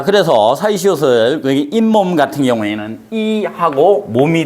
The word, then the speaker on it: 잇몸: 자, 그래서 사이시옷을 여기 잇몸 같은 경우에는 이하고 몸이 된 거예요. 이하고 몸이 됐는데, 이 몸이 됐는데 우리가 이 몸이라고 안 하고 잇몸이라고 발음을 하니까 갑자기 없는 니은 발음이 뭐가 된 거예요?